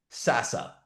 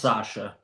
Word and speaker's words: Sasha: So let's say I had Sasa. Sasa is it Sasa? Did I pronounce it correctly? It's pronounced Sasha.